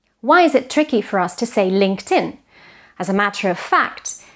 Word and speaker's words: LinkedIn: they should imagine that this T or D belongs to the following syllable, to the following word. So it's not linked in, which is a bit tricky, but LinkedIn, which is actually easier to pronounce.